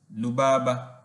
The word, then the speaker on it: rubaba: When pronouncing such words or names, the r is replaced with l sound. For example, rubaba and rabi are pronounced as lubaba and labi respectively.